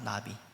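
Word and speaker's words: נביא: 구약 성경은 이 히브리어로 쓰여졌는데 히브리어로 이 예언자를 나비라 합니다. 나비. 버터플라이처럼 발음이 그런 느낌이죠. 나비라고 부릅니다.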